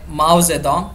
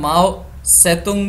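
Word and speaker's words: Mao Zedong: तो माओवाद के अंदर ये है माओ जेडोंग, जिसे हम माओ सेतुंग भी कहते हैं, अलग अलग प्रोनाउंसिएशन है इनके।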